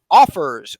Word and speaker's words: Offrs: the next provider on our list which is offers offrs I always get confused on this one John so I'm making sure to spell it for those people and uh this is 200 plus per month offers is a real estate lead generation software designed